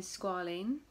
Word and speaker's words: Squalane: Okay, so I got the Retinol 0.2 in Squalane. That's how you pronounce it.